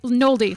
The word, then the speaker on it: Nolde: you say it, forest Nold? That's what I thought. Okay. I say Nold, like Nolde, like Nick Nolde. It does have that E on the end. But yes. I always pronounced it Nold.